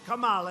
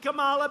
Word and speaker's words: Kamala: Kamala, like a comma.